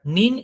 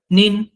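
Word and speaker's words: 您: কিন্তু এইখানে একটা দেখার বিষয়, সেটা হলো যে নিতে কিন্তু থার্ড টোন, বাট নিন এ সেকেন্ড টোন। সেক্ষেত্রে উচ্চারণটা কিন্তু এখানে আলাদা হবে। যেমন নি, সেখানে থার্ড টোনটা ইউজ হয়েছে, আই এর ভয়েসটা আপ থেকে নিচে এসে আবার বাড়ছে। বাট নিন, এখানে আই কিন্তু ডিরেক্ট নিচ থেকে উপরে হয়ে গেছে, ভয়েসটা ইনক্রিজ হবে।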